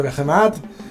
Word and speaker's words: Behemat: nombre de este ejército, porque tendemos a decir hijos de Behemat. Viendo vídeos extranjeros veo que se decantan más por pronunciarlo llano. Además, en inglés la mayoría de las veces, la mayoría de las palabras son llanas, así que vamos a decir Behemat.